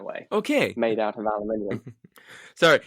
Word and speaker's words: aluminium: okay made out of aluminium sorry you're the first person on this podcast to pronounce aluminum in the uk way and it's just like oh right different continent different english got it yeah we always